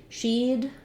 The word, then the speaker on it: she'd: She'd, same as he'd, just with a sh instead of a sound.